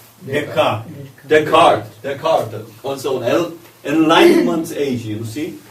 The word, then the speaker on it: Descartes: How do you pronounce? Descartes.